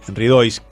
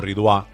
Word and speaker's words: Ridois: sotano y fundador de bodega sin reglas ridois o ridua él me va a decir cómo se pronuncia este a propósito de lo que hay